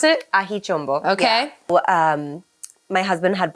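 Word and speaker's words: Aji Chombo: this is on the label that's how you pronounce it ahichumbo okay um my husband had brought back like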